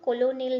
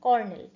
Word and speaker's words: colonel: কর্নেল এর এই COLONEL এর উচ্চারণ কিন্তু কোলোনেল নয়, কর্নেল।